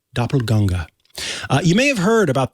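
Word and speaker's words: Doppelgänger: matters by the way for English speakers that's doppelganger but the original pronunciation doppelganga you may have heard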